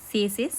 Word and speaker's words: ث: ہی ہوگا۔ دراصل یہ سے جو ہے نا، عربی زبان کا ایک خاص حرف ہے جس کا تلفظ بہت نرمی سے زبان کو دانتوں کے نیچے سے دبا کر نکالا جاتا ہے۔ یہ وہ حرف ہے